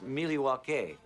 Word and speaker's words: Milwaukee: Indian name he espied it is actually it's pronounced Milwaukee which is Algonquin for the hey I'm sorry